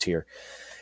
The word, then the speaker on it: Tyr: ahead to the 28th i think that's actually pronounced tier i'm sorry tyr i think this pronounced tier anyway um june 28